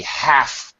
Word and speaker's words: half: and of course I'm going to pronounce the H a half pint. Yeah, it's pronounced. Sound. It's not silent, in other words. Yes. But you know, have you ever heard a British person say, "An half pint, mate? I'd like an half pint. Pour me an half pint, bartender." Right. Like a Cockney, yeah. Cockney accent or an Australian, an Aussie accent, they do not pronounce the H, actually.